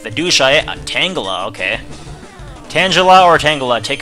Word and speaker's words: Tangela: Because I think it's supposed to be like, Tangle, like, you know, Tangela as in Tangle, because it looks kind of tangly, but whatever.